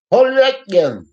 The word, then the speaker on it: Povetkin: Povetkin. That's how you say it, guys. Povetkin. We just say Povetkin in America.